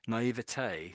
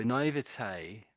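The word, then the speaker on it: naïveté: And the other version is naivety, oh dear, naivete. So naivete, I would say naivete. His voice sounds rather odd, but yeah, I think most people say either.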